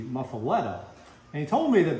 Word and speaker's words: Muffuletta: I once asked the famed New Orleans food critic Richard Collin, where does the pronunciation Muffuletta come from? Because if you actually pronounce it as it's written, it would be Muffuletta.